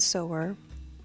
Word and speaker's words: Sower: So it's definitely pronounced Parable of the Sower.